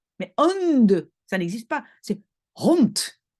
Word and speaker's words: hond: Donc un francophone, il va dire: «Hij heeft een hond», hond. Mais hond, ça n'existe pas, c'est hond et donc c'est le D à la fin qui vraiment doit être prononcé t.